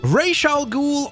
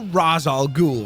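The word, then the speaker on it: Ra's al Ghul: to check that out rayal ghoul or rozal ghoul however you'd like to go on ahead and pronounce his name because many obviously go on ahead and pronounce it one of those two ways but one thing that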